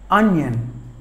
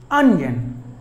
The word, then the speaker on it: onion: lettuce word number 6 onion on young Chester syllables but the stress falls on the first syllable on yeah onion we're number seven potato